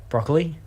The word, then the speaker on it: broccoli: Broccoli? That's not how you spell it. Do you pronounce it? How do you pronounce it? You pronounced it broccoli. Broccoli. Like E. coli.